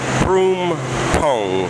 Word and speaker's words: Phrom Phong: Okay, Phrom Phong. That's how you pronounce that.